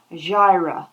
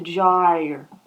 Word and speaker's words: gyre: It says, turning and turning in the widening gyra. Now, is that how you say it? You know, to gyrate, but to gyre, right?